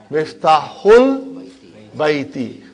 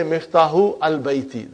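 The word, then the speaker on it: مفتاح البيت: Because al, remember that Hamza is Hamzatul Wasal. If it is in the middle somewhere, we assimilate it. We don't pronounce it. So you will say Miftahul Baiti. You cannot say Miftahu al-Baiti. That will be wrong.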